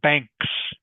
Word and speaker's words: banks: All right, and just remember to pronounce the S. Okay? Leduk Ang, banks, banks of the river.